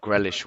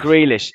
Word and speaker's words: Grealish: ten so i think grellish would have been the perfect perfect um squad player i have never heard his name pronounced like that grealish oh you know what